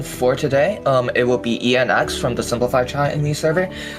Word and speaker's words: Eyan: It's Eyan, so like the X is actually sort of concatenated. Yeah, so it's like an initial.